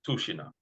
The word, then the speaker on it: Tushino: So t u s h i n o but it's pronounced tushina tushina hotel mova but you can just write